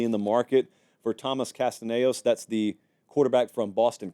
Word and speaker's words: Castellanos: I just know I said the name wrong. Castellanos.